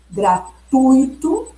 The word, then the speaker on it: gratuito: Então, se vocês observarem na gramática culta, na norma culta, como deve ser a pronúncia? A pronúncia considerada correta é rubrica, gratuito e Nobel.